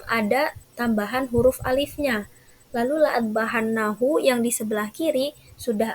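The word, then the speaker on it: لأاذبحنه: Lalu la'adbahannahu yang di sebelah kiri sudah ada tambahan huruf alif setelah huruf hamzah, tetapi pelafalannya itu tetap sama, tetap la'adbahannahu, tidak ada yang berubah.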